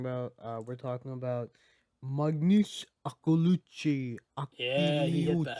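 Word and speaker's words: Akliouche: We're talking about Magnus Akulucci, Yeah, he hit that. Akiliuc, He hit that the French pronunciation.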